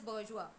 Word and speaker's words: bourgeois: It is the bourgeois. It is pronounced as bourgeois.